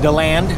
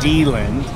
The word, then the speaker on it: DeLand: So we have found ourselves in DeLand, not DeLand, Florida. DeLand! DeLand, if you're looking to pronounce it.